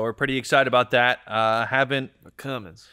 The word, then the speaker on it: Cummins: Cummins. You got to say it right. Cummins. Cummins. Cummings.